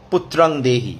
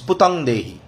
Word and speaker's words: পুতং দেহি: give us দ্য বয় পুত্রং দেহি, নো ইট ইজ নট পুত্রং দেহি, ইট ইজ পুতং দেহি, যারা উচ্চারণ করেন পুত্রং